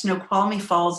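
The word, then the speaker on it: Snoqualmie Falls: watch whales and walk along and then there's snow qualy fall am I pronouncing that correctly which is very famous yes snow qualy falls is absolutely gorgeous again one of these Cliff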